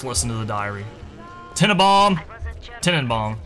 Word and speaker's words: Tenenbaum: Tenenbaum, technically, is actually how you say it.